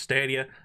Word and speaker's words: Stadia: is the Google stadia I know it's pronounced stadia I'm going to call it staia and no one can